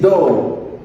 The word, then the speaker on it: doe: On dit doe. C'est comme si c'était un W là. Doe.